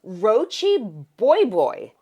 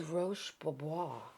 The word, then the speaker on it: Roche Bobois: And I said, yeah, they're Roachy Boy. And if I tell you that this man Did he fall over? I thought he was having a heart attack. He literally, I was like, are you okay? I was like, do you need some water? He was like, it's Roche Bobois.